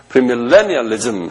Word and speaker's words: 프리밀레니얼리즘: 그 다음에 천년이라는 건 우리 밀리미터 하는 식으로 LLENNI, 밀레니얼리즘 그래요. 아주 우리에겐 발음도 힘들어요. 밀레의 액센트가 있어요. 프리밀레니얼리즘 한번 발음해 보세요.